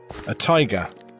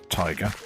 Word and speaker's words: taiga: access to, is a taiga biome, one for mossy cobblestone, etc. like that. I believe it's pronounced taiga. I did check. That's what the internet seems to think. That's how you pronounce it.